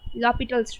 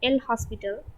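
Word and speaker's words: L'Hôpital's: rule that is the lopital's rule and this is pronounced as lopitals don't pronounce it as l hospital this is lobitos lopitals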